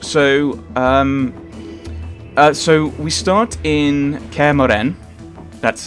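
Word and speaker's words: Kaer Morhen: So so we start in Kermoren. That's how you pronounce it, apparently.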